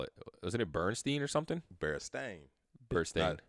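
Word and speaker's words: Berenstain: Wasn't it Bernstein or something? Berenstein. Bernstein. A lot of people will say Berenstein, Berenstein, but it's the Berenstein Bears, so it's STAN. It's like stain.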